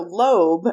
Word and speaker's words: Loeb: So Loeb, and Loeb is spelled Loeb, and I'm pretty sure I'm saying that correctly. I did look up a video.